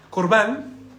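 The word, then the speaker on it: korban: es muy importante la palabra correcta para poder pronunciar es corbán significa ofrenda o sacrificio acercado por lo tanto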